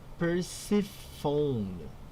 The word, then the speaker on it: Persephone: Through Persephone, pronounced Persephone.